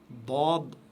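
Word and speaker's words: ض: Donc, vous devez, la bouche est pleine, la langue est prononcez ça de manière très très lourde et la langue elle s'étale sur à l'intérieur de la bouche. Dad, Dad, Dad. Donc, c'est un son plein et c'est un son très lourd.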